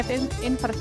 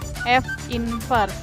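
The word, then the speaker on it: f⁻¹: dengan F invers ya Ini bacanya F invers F angkat min 1 itu dibacanya F invers Oke artinya kebalikan dari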